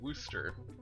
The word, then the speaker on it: Worcester: equivalent to Worcester. Yeah. Worcester. Worcester sauce. I don't know what could be confusing about the pronunciation of the word Worcester.